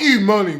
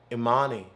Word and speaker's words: Imani: They talk about how proud E-money will be of them. I think she'd really be proud if you could ever pronounce her name Imani.